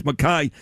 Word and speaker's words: McKay: It's spelled McKay, but it's Mai.